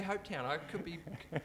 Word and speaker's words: Hopetoun: As far as I understand, you say Hopetoun. I could be wrong there.